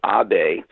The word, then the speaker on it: Abe: Kyoto I followed misil obey spelled like aid like Abe Lincoln a Zen philosopher to